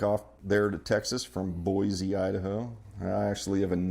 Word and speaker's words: Boise: There's no Z in Boise. Boise.